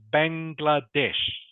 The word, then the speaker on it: Bangladesh: this one here yeah correct so it is pronounced Bangladesh okay can you say that please kangan Bangladesh